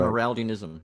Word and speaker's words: Amyraldianism: Should I pronounce it right? Amyraldianism.